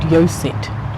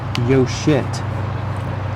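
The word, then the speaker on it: yoṣit: Therefore, woman is called Yosit. Actually, it's pronounced Yoshit. Whoa, I think we'll stick with Yosit. Because the S has a dot under it, so it means SH.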